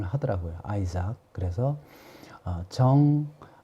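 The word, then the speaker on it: Isaac: 미국에서는 어 이삭을 아이 스 하기 라고 이렇게 발음 하더라구요 아이삭 그래서 어정 아 우리 아이 자 이렇게 발음을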